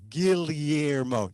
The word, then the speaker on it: Guillermo: i say my name gilliermo the double l is l-y guillermo that guillermo that's spanish